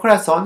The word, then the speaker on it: corazón: For example, the word corazón has an accent when it is a singular because intensity of the voice is in the last syllable and end in N. And when it becomes plural, the intensity of the voice goes to the penultimate syllable, and since it ends in is, it no longer carries accent mark.